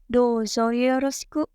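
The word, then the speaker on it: どうぞよろしく: Di sini ada huruf O dan U. Ketika huruf O dan U ini berdampingan, maka dibacanya O-nya panjang. Kalau kata bahasa Arab, 2 harokat. Ya, douzo yoroshiku. Lagi-lagi bertemu huruf shi. Di sini I-nya disamarkan, tidak terdengar jelas.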